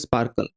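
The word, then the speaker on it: SPARQL: SparkQL pronounced Sparkle.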